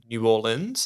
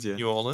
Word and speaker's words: New Orleans: medical dock over in New Orleans is is that how you pronounce it New Orleans don't say New Orleans though they'll know you're not from there and the work that